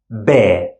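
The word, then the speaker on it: ب: we pronounce it as bear bear normal B sound in English the second one the same shape a boat and two dots on top and we pronounce it te normal T sound in English te and the last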